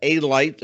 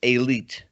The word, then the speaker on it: Elite: in mr john elite sometimes pronounced a light but it's elite um george anastasia will